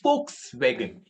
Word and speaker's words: Volkswagen: is for all the people and yes the pronunciation is folks swagen it's V but it starts with s that's